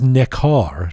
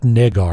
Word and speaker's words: Necar: By the way, it is Necar, not Negar.